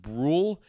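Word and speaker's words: Bruihl: It's pronounced BRL like uh like grl except for with a B. I saw that in an article. That is how it is indeed pronounced. And Brule seems like an interesting piece for the Cardinals.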